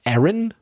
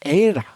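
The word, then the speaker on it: Éire: the emerald isle it's also known as eren by the way or era which is spelled e with an accent i-r-e which is the old irish language way of saying ireland and it's also accepted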